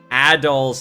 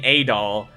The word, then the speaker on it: Adol: and we've been pronouncing adol's name incorrectly uh we've been pronouncing it saying a doll but his name's actually pronounced adol apparently so they got some